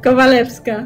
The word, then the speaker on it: Kowalewska: Kowalewska.